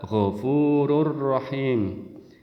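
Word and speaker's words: غفور رحيم: di dalam al-qur'an gofurun tulisannya gofu Run rahimun rahimun tapi dibaca gofururahim n-nya hilang biasanya di dalam huruf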